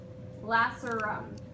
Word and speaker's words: lacerum: This is going to be your foramen lacerum. It's spelled like lace rum.